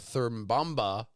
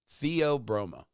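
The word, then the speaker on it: Theobroma: So what lab grown cocoa actually is, rather than cultivating cocoa trees, researchers take cells from the thermomba. Thur broma the broma. Yeah, theob broma. That's how it's spelled.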